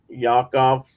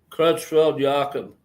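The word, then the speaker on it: Creutzfeldt-Jakob: Yakov? No. Crutchfield-Jakob Yeah, what he said.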